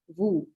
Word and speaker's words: vous: This is vous. You don't pronounce this S.